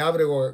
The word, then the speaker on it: Ábrego: para el regreso de Ábrego García, es el nombre, tiene el acento en la primera A, así está, Ábrego García,